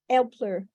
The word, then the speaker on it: Aelper: It's an A with an umlaut. That makes Yeah, sense. Yeah. Is the short for the umlaut. Which exactly. would normally sound like elf. Elpler, Elpler.